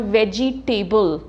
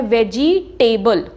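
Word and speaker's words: vegetable: हमने किया था वर्ड वेजीटेबल तो अक्सर लोग बोलते हैं वेजीटेबल टेबल पे स्ट्रेस करते हैं नो इट इज वेजिटेबल तो इसी तरह ब्रेकफास्ट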